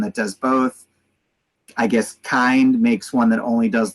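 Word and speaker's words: Kiinde: Another bottle warmer that is exclusively for breast milk, made by, I don't even know how to pronounce it, Kind, the K-I-I-N-D-E. It's Kind. I'll never understand. I always called it Kindy, and me and Jewel were funny, interesting.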